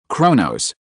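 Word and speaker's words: Chronos: No, I'm not talking about Kronos, the king of Titans, but Kronos, the god of time. The pronunciation is different. Can you hear it? Look at my mouth. Kronos.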